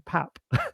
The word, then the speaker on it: Pape: the fact his name is actually Pap. But he's just thought it's easier.